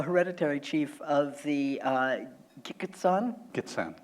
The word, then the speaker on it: Gitxsan: Gitxsan. Gitxsan, Yeah, thank right.